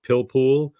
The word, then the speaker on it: pilpul: And I think the way you pronounce it, it's pilpul, Pilpul.